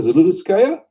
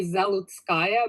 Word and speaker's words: Zaloutskaya: In America, they say Zaloutskaya, but the correct pronunciation is Zaloutskaya.